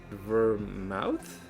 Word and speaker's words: vermouth: It's spelled V E R M O U T H. Is it Is it vermouth? No, it's spelled it's pronounced vermouth.